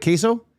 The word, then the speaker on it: queso: Am I saying it right? Queso? Yeah.